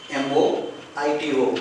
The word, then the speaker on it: mojito: pronounced as mijito a modulating move but the pronunciation is mojito mo I do welcome the night Jay sounds like pitch it